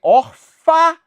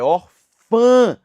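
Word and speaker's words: órfã: paroxítona terminada em a a palavra é orfa ou Orfã Orfã Ah por isso meu amigo minha amiga a pronúncia que é nasalizada não é orfa é Orfã por isso essa palavra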